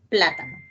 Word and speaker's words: plátano: tenemos la palabra plátano mire que la palabra plátano lleva la tilde en la tercera sílaba voy a contar primera sílaba mire segunda sílaba y tercera sílaba plátano por lo tanto esdrújula último primera sílaba segunda